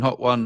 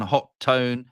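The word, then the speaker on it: Hotone: it it's great Atlantean on the website of ho tone hot one hot tone it says pronounced hot one they make a big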